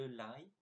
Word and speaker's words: ail: Now check the pronunciation of that word. It's je mange de l'ail, mais je déteste l'ail.